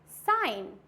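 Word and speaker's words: sign: Third साइन।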